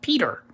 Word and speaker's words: Pieter: Peter p IE ter which is actually the dutch spelling of his name but you actually pronounce it Peter in English so his name is